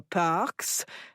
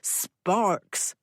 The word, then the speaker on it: Sparks: And why would Miss Parks? Inspector Luron began. Sparks, Jack said. Not Parks. Sparks. He was a hero. The least you could do is pronounce his name right.